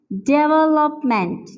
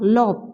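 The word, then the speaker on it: development: Stress नहीं करना है, यहाँ पे हमने सेकंड सेलेबल पे जो है स्ट्रेस करना है, ठीक है। तो इसे कैसे हम प्रोनाउंस करेंगे, हाउ to pronounce it, like this, डेवलपमेंट, डेवलपमेंट, डेवलपमेंट। डेवलपमेंट नहीं होता, लॉप, बहुत से लोग इसे कहते हैं लॉप, इस तरह नहीं होता, डेवलपमेंट, डेवलपमेंट।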